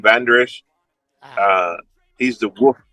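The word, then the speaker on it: Vander Esch: It the way it's pronounced, they just call him Van Der Esch.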